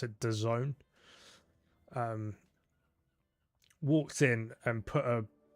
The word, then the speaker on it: DAZN: Yeah, apparently you pronounce it DAZN. I don't know how, from those 4 letters, you pronounce it that way.